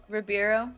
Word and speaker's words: Ribeiro: Ribeiro? I know him as Carlton. Ribeiro.